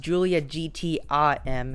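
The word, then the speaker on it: Giulia GTAm: new julia gta m it's actually pronounced julia gtim next up we have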